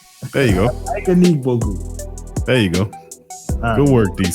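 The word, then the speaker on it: Ike Anigbogu: Ike Aniga Boo. There you go. Ike Aniga Boo.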